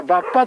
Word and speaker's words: 馬場: ところがバッパというところですねババと書いてバッパと読みますえババという